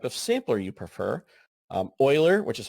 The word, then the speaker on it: Euler: then what type of sampler you prefer um Euler which is how you say that word um it's a last name and it's not right Euler Euler is a 15th century mathematician and we still